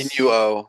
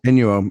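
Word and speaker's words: Inu-Oh: How you pronounce? Inuo. Inuo.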